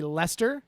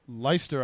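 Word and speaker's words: Leicester: want to okay uh it's gonna be Lester l-e-i-c-e-s-t-e-r hang on I'm still writing the date all right Saturday the 13th lei c-e-s-t-e-r versus Hull h-u-l-l like a ship hole I can I do that hey these are soccer names you can't spell them I'm helping out you leister I never would have guessed Lester yep that all right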